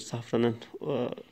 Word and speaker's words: Safran: Safranbolu Zaferan diye geçiyoruz. Safranın Arapça adı ama Türkçedeki telaffuzu Safran arkadaşlar.